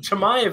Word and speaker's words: Chimaev: Chimaev is definitely the way he pronounces his last name.